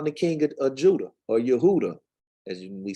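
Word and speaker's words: יהודה: of Jehoiakim, king of Yehuda. So Baruch, a prophet, I'm assuming he would be considered a prophet. He around the king of Judah, or Yehuda, as we say, ain't no J in Hebrew.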